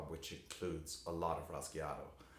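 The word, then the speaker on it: rasgueado: And this is called the Rasqueado. Now the Rasqueado, or pronounced Rasqueado, this comes from the Spanish word to scratch, rasgar.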